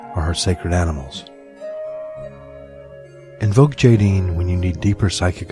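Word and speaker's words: Aidin: Invoke Jaideen when you need deeper psychic abilities or intuition, especially in matters of love and sexuality.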